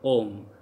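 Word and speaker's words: homme: H is never pronounced in French language. Like if H is starting in any word, that would be silent. Like for example, om. So how we call om? Because H is silent here, so om.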